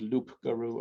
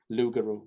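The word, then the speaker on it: loup-garou: it's sort of like i don't think you officially pronounce it loop guru i think you say lu without the blue lugaru yeah that's sort of where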